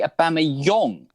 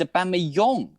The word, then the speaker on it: Aubameyang: heard in the week I heard it's actually aame Yong we we saying it to we've been saying it wrong it's aame young a bit like it's